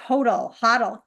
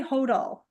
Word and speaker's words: HODL: I think if you pronounced it phonetically, it would be HODL, but I find different jurisdictions pronounce it differently.